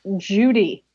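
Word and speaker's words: Jowday: That's an excellent question, but colloquially it's pronounced Judy.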